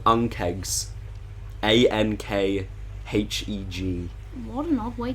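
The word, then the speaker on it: ankheg: were tame ones there uh they are called unkegs a-n-k-h-e-g what an odd way to spell it yeah it's it's pretty hard um they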